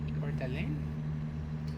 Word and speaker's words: Coeur d'Alene: I'm going to Coeur d'Alene. I don't think I'm pronouncing that right. A Godeling? Coeur d'Alene.